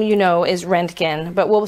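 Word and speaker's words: Roentgen: So it's pronounced Rentgen.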